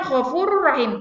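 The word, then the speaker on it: غَفُورٌ رَّحِيمٌ: Bacanya Ghafurur Rahim, tapi tulisannya Ghafurun Rahim. Dibaca Ghafurur Rahim.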